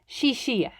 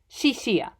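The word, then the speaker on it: 谢谢: mandarin characters and pronounced shishiya shishia x in mandarin makes an s sound like in english and finally goodbye would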